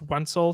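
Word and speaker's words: Wencl: on twitter pencil yeah it rhymes with pencil right but you don't you basically you spell pencil but you start it with a w and then take out the i and that's my last name wenzel there you go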